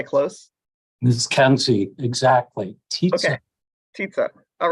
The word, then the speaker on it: Tietze: I'm going to look to Yes, correct on pronunciation. Was I close? Ms. Kenzie, exactly. Okay, Tietze.